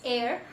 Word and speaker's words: heir: So it's not hair, it's heir. Okay, heir, heiress. Like that we pronounce that.